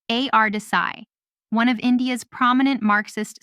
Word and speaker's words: A.R. Desai: Desai, pronounced A.R. Desai, one of India's prominent Marxist sociologists.